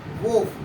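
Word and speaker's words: wolf: For example यहाँ पे देखेंगे हम, एफ से पहले आया है यहाँ पे एल, यहाँ पे एल क्या हो जाएगा, साइलेंट हो जाएगा। अब क्या हो रहा है यहाँ पे, वोफ।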